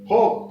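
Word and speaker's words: folk: फोक, फोक होता है लोग, लोगों का समूह, फोक, फोक, फोक में एल साइलेंट, के से पहले आया है।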